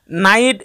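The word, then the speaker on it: night: যেমন নাইট এবং সাইট দুটি শব্দের মধ্যে জি এর উচ্চারণ বাদ গিয়ে আই উচ্চারিত হয়েছে।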